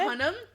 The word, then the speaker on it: Hunnam: Oh, it's Hunnam.